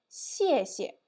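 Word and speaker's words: 谢谢: Now you can see that the first pinyin I just pronounced with the 4th tone, but the second one you can see that only with pinyin syllables, but without tones on the top, yeah?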